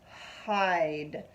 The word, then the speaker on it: hide: And then the silent E is saying nothing at all. So it's I'd, hide.